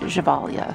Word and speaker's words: Gevalia: Kelly McKelly, the Gevalia coffee carafe. And it is $3.99 at Value Village. I know in the commercials they pronounce it Gevalia, so that's how I'm pronouncing it.